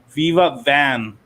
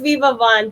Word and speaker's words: Viva Van: It's closer to my actual language because in Vietnamese it's actually.